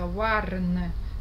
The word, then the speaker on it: warn: Несмотря на то, что слово пишется warn. W-A-R-N. Читается как O. Warn.